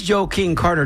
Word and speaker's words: Joe King Carter: And the way we say it it you have to you have to pronounce it that way because otherwise it sounds like you're saying joking Carter. And this joke this joke and this Joe King Carter doesn't joke around.